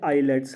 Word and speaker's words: islets: In cluster of सेल्स को हम कहते हैं आइलेट्स of Langerhans. आइलेट्स of Langerhans, या इनको हम पेनक्रियाटिक आइलेट्स भी कहते हैं, ISLETS, ठीक है। आइलेट्स, एस साइलेंट रहता है।